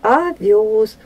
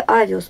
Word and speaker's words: овёс: Не нужно ставить ударение в слове овёс, потому что здесь есть буква Ё, а она всегда ударная.